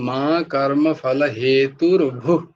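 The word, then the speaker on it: मा कर्मफलहेतुर्भूः: ভূর মা করতে নেই, এটা উচ্চারণটা হবে এরকম, মা কর্ম ফল হেতুর ভূ, আর ভূয়ের সাথে মাটা যোগ হয়েছে তাই জন্য এটা রেপ এসছে ওখানে, হেতু ভূ, তারপর আবার মা, তো তাই জন্য উচ্চারণটা এরকম হবে যে মা কর্ম ফল হেতুর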